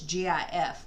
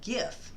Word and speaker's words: GIF: Okay, it's pronounced GIF, but it's GIF with a hard G as the accepted name. So GIF.